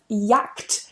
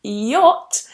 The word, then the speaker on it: yacht: I was a child I did pronounce this word as yakked for many many many years I remember reading it in a book and I thought it was a act I said yakked for many years and it wasn't until someone said the correct way which is yacht when